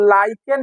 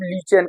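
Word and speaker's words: lichen: जिसको लाइकेन या हम लीचेन कहते हैं। ठीक है, स्पेलिंग एक ही होता है, नाम अलग अलग किताब में अलग अलग टाइप से दिया हुआ रहता है। कहीं लाइकेन लिखा हुआ रहेगा, कहीं लीचेन लिखा हुआ रहेगा।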